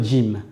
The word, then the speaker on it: ج: On va commencer par la lettre Jim. La lettre jim, c'est comme si vous aviez un j et devant vous mettez un d. D. Vous allez la prononcer et sachez qu'elle est un petit peu sèche lorsque vous allez la prononcer.